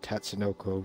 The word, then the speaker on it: Tatsunoko: So I do like the Wii one, which is actually named Tatsunoko versus Capcom, which some of all those...